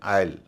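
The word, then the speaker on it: aisle: कुछ एक शब्दों में ए आई का उच्चारण ए ना होके आई होता है। ऐसे बहुत कम शब्द हैं। एक शब्द है आईल।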